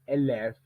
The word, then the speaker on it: élève: Par exemple, ici, avec l'autre mot, élève, on ne dit pas élève ou élevé, on dit élève. Le E final doit être pris en compte, c'est à la dernière syllabe orale.